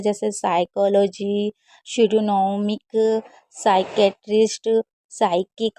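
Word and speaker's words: psychology: 17 rule number कह रहा है कि कभी भी अगर पी एस साथ में आएगा तो पी हमेशा साइलेंट रहेगा। और ये देखिए कुछ वर्ड मीनिंग में ज़रूर साइलेंट रहता है, जैसे साइकोलॉजी, शिडोनॉमिक, साइकेट्रिस्ट, साइकिक हो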